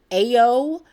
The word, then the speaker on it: Ayo: be done I love ayo 80 Beary I hope I'm saying her name right I know I'm not but I believe her name is pronounced Ayo she plays Sydney on